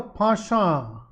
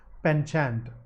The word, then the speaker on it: penchant: a humans have a Pasha that's the British pronunciation okay the American pronunciation is penchant Pasha is the British